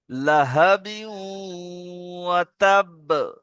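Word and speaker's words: لَهَبٍ وَتَبَّ: এখানে তানমিনের পরে তানমিন দুজাবার এসে, দুজাবারকে তানমিন বলে। তানমিনের পরে কি এসছে? ঈদগামে হরুফে ইউমিন, হরুফে ইউমিন 4টি অক্ষরের মধ্যে ওয়াও এসছে, তাই না? তাহলে কি হবে? একে ঈদগামের নাকিস গুন্না হবে, এখানে ঈদগামের নাকিস গুন্না, 1 আলিফ গুন্না হবে। তাহলে কি হবে? লাহাবিউ। সবাই বলেন লাহাবিউ।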